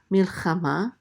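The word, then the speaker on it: מלחמה: This is mil, and then the chet with a kamat says cha, mil cha, and then a mem with a kamatz, and the hey is silent. This is ma, milchama.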